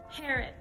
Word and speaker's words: Herod: according to google translate it is pronounced herod so yes for some